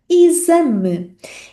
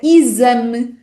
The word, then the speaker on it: exame: Mas para fecharmos este episódio, temos aqui a palavra exame. E na palavra exame, a letra X é pronunciada como Z.